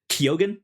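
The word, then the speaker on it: Keoghan: and they just cast Barry kogan I believe is how you say his last name uh to be in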